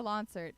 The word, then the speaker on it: Lonsert: like my name is Lance art it's like concert excepting it with an L and then everybody was